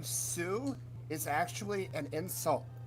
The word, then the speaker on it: Sioux: Sioux village. I think that's actually a legit... That's an It's pronounced Sioux.